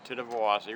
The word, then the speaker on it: Tittabawassee: for not impossible and it actually pronounced just like it spelled if you if you go through it syllable by syllable it's the tenth of velocity River interestingly enough at